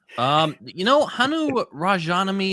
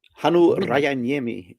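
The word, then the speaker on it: Hannu Rajaniemi: years ago, and yeah, Hanu Rajaniemi is how I think you pronounce it. It's Finnish, so you basically just read it as it is spelled.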